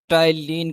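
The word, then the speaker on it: ptyalin: enzyme is द टाइलीन पी यहां पे silent होगा इसलिए टलीन सलेवरी अमाइलेज़ बोला जाएगा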